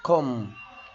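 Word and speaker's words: comb: سكين ني يعني ركبه برض حرف البي لو ج قبليه حرف الام البي لا ينطق زي كلمه كوم كلمه كوم يعني مشط تم يعني مقبره لام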